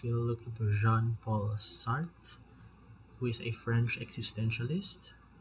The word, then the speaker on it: Sartre: of existentialism Okay so sart pronounce as sart you don't say sartre so was an atheist